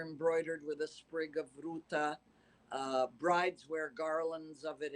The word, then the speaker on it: Ruta: The name Ruta, which you pronounce beautifully, I must say, Ruta with a T.